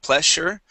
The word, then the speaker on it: pleasure: relevance uh pleasure uh make sure to pronounce that z sound there instead of pleasure pleasure pleasure pleasure one